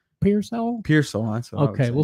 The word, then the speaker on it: Pearsall: Pearsall. That's what okay, we'll say Pearsall.